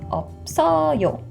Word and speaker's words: 없어요: And keep in mind that this 시읒 here will carry over into the empty vowel, so the pronunciation becomes 없어요.